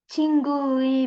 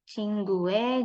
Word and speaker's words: 친구의: Jadi ada dua ya. Kalau formal biasanya akan 친구의, 친구의. Nih. Atau kalau misal yang keseharian sering dipakainya pakai e, 친구의. Jadi seolah-olah bacanya begini ya, tapi tulisnya tetap 친구의.